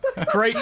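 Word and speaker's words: Krayt: Oh, apparently Spitfire says it's pronounced crate.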